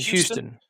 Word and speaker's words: Houston: It is in Houston. And it is at the War Dome on April 26th to the 27th. That's pronounced dome.